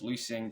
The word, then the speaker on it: loosink: And that word that I just said there, loosing, is spelled loosink, but it is pronounced loosing because if the K comes after an N, it makes a G sound.